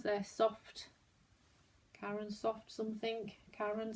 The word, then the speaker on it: Caron: Caron, C-A-R-O-N. That's how you pronounce it.